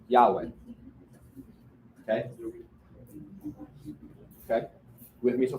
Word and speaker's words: Yahweh: There are no vowels when you write Hebrew. Okay. And we typically make it into that for pronunciation. Yahweh.